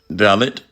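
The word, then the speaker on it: Dalit: this up real quick a dallot in India pronounce dallot a member of the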